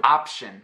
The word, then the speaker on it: option: Option, opção in Portuguese, right? Option. I'm not saying option, and I'm not saying a-chin. Completely not saying the P.